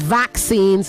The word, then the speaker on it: vaccine: You have to pronounce the other C, vac, okay? So it is vaccines, not vaccine, okay?